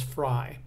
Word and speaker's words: Frye: If you knew he was talking about, you know, the gentleman's name is Fry.